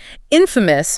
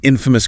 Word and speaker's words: infamous: Infamous means well known for something bad. negative, scandalous, an infamous criminal, an infamous disaster. And the transcript reminds us about pronunciation stress on the first syllable. Infamous. Correct.